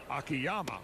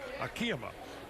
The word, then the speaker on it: Akiyama: And he would rather have it pronounced by us as Akiyama, which is kind of the anglicized or English version of his name rather than Akiyama.